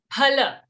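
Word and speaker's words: फल: But in Hindi it is given as fa only, no? But why? No, in Hindi we say it as fa, but we have to, it's actually in Sanskrit, we have to pronounce it as pha.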